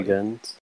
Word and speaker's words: Jergens: Jergens. Jergens, Jergens. yeah. It's a Jergens or hard G. Jergen? It's a hard G.